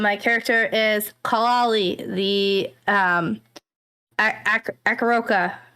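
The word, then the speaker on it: Aarakocra: Hello, my character is Clali, the Akaroka. Is that the right way to say it? I always add Arakakra. See, I always add extra letters in there.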